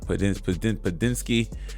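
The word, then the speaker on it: Podziemski: You got Padinsky.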